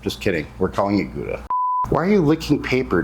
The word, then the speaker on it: Gouda: And then for our cheese, we have some white cheddar and some gouda or hauda apparently is how it's properly pronounced.